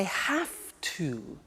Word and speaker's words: have to: hear my pronunciation i have to notice i don't say v i say f have half it becomes have to have the two becomes in pronunciation have to have to okay so